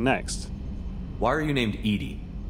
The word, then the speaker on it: EDI: why are you named Edie Edie is the phonetic pronunciation of EDI that is an acronym for enhanced defense intelligence how are you getting along with Joker mr.